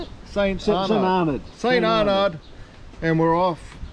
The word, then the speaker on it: St. Arnaud: St. Arnaud.